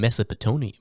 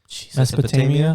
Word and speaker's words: Mesopotamia: dish it out it actually came back in mesopotone Mesopotamia Mesopotamia couldn't even say that word right he's